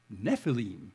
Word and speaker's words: Nephilim: in Hebrew if you if you want to know how to pronounce Nephilim in Hebrew it's Nephilim that's the Hebrew so that they just